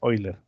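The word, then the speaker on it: Euler: de un método de oilers algunos dicen hola yo creo que me parece que la forma correcta de pronunciar es hoy les pero de ello no estoy totalmente seguro entonces la principal causa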